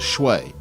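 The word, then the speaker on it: swai: Those two species are Basa and Schwai, which most Americans pronounce as Schwe.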